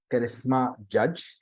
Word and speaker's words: Charisma Judge: morning my next guest under someone live is charisma judge if I have uh pronounced it correctly yeah you're perfectly right so